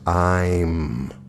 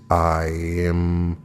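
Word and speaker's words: Aim: The second Bija mantra of significance is E-I-M, pronounced I'm. The correct intonation is I'm.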